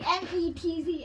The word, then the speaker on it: mezzo: But you say it like pizza. So you don't say pizza, right? You say pizza. Yeah, So you don't say mezzo, you say mezzo. it kind of sounds like METZO.